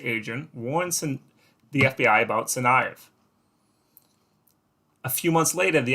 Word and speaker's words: Tsarnaev: actually have some pronunciation the t is silent tsarnaev all right we're going to go with tsarnaev from my uh my